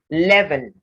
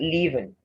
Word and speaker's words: leaven: dreamt not being dreamt leaven so it's not leaving and um and as